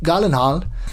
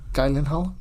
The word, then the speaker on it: Gyllenhaal: es el señor Jake Gyllenhaal. Es la pronunciación correcta en sueco, no Gyllenhaal.